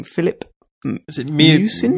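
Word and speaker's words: Miucin: How do you pronounce the guy's name? Philip? Is it Musin? Musin, yeah, Philip Musin.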